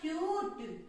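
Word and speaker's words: cute: सी का साउंड निकलता है क, और यहाँ पे यू का यू साउंड निकलता है, ठीक है। तो यू का क्यू, ये बना क्यूट, क्या बनेगा क्यूट, क्यू बना क्यूट।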